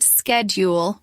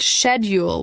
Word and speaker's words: schedule: Americans pronounce it schedule with a hard k sound at the beginning. British speakers pronounce it schedule with a soft shh sound.